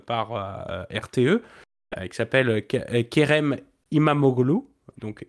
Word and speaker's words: İmamoğlu: la technique, c'est quand tu as un oglu, à la fin, c'est olle.